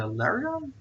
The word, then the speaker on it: Lairon: So it's Piston is not an Aaron anymore, but he's a Lairon. Lairon. Lairon. Let me quickly just check how that is spelled. Like Aaron, only with an L.